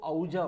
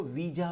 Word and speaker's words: Ouija: अब पढ़ने वाले इसको औजा पढ़ते हैं, बट प्रोनाउंसिएशन में इसको वीजा पढ़ा जाता है।